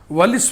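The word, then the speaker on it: Wallis: अब आपको हम बताने जा रहे हैं वालिस फार्मूला। वालिस भी पढ़ते हैं, वैलिस भी पढ़ते हैं, जो आपके मन में है उच्चारण करिए।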